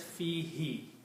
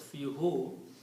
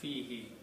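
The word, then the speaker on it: فيه: But in the recitation, to make it easy on the tongue, it is pronounced as fihi. It is not pronounced as fihu.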